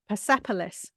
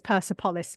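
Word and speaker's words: Persepolis: how to say it pepolis I was pronouncing as perspolis for years it happens and I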